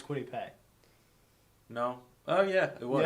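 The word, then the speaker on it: Kwity Paye: to say it right apparently it's quitty pay i don't know it's quitty yeah i was told quite easy it's crazy whatever well adam i don't care yeah it's not quittie pie apparently because people freaked when i said that on a live stream yeah najee harris is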